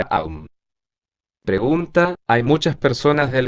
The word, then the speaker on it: Om: Pregunta: maestro, ¿cómo se pronuncia el mantra Om? Respuesta: se pronuncia Aum.